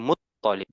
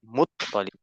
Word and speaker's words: Muttalib: Abdul Muttalib sebenarnya di bahasa Arab itu to-nya bertasydid. Ya, Abdul Muttalib. Muttalib.